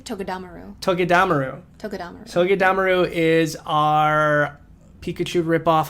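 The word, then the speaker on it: Togedemaru: Togedamaru. I think you're putting the stress on the wrong syllable. Togedamaru? I think it's Togedamaru.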